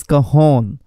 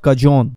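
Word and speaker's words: cajón: है that goes CAJON, लेकिन इसका जो प्रोनंसिएशन है that is कहोन, नॉट कजोन। That's because in Spanish language J is pronounced as एच।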